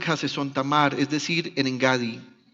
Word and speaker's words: Engadi: Otras versiones ponen la tilde en la I, entonces se lee Engadi. Aquí está con el acento en la G con la A, o sea que es una palabra grave.